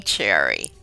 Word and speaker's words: Sherry: of eight children welcome Cherry thank you for having me it's good to be here I love your name name it's interesting that you are spell it as Sherry but it is pronounced cherry and how did that